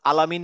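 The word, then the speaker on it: العالمين: সোজা কথা মনে রাখতে হবে, আইন উচ্চারণ করার সময় আমি একটু মানে ভদ্রতা ভেঙে একটু কষ্ট করে উচ্চারণ করবো, আলামিন, আলাইহিম, আলাইহিম। আলাইহিম আলাইমিন হ্যাঁ, ঠিক আছে। এইটা চেষ্টা করতে থাকেন, এবং মাথায় রাখবেন যে আমি নর্মাল বলবো না, নর্মাল আলামিন না বলে আলামিন।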